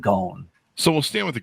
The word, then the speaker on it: Ghosn: Actually, he pronounces it Ghosn, like a long Ghosn, sound, like rhymes with bone or phone.